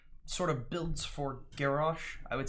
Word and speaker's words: Garrosh: Heroes of the Storm, Garrosh. I'm going to try my best to pronounce his name correctly. I end up saying Garrosh a lot, but I know that it's pronounced Garrosh.